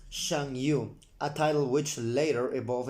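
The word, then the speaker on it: Chanyu: under the leadership of the Changyu, pronounced Shangyu, a title which later evolved into Hagan or Han.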